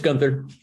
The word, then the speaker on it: Guenther: I am pronouncing that correctly, am I not? Yeah, it's Guenther.